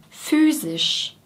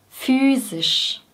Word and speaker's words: physisch: Und bei sisch liegt die Zungenspitze schon oben bei S und geht nach unten für das I und geht wieder hoch für das Sch. Sisch, sisch. Physisch.